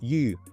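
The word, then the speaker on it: 鱼: I think it's more like a grammar-based element, because like the word for fish in Chinese, and it's yu with like a rising tone.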